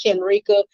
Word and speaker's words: Shenrika: But the correct pronunciation is Shenrika.